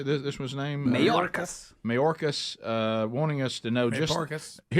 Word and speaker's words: Mayorkas: Mayorkas.